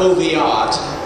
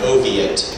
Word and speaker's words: Oviatt: this man named james oviatt uh not oviatt which sounds a little more sophisticated but oviatt that's how it's pronounced where he comes from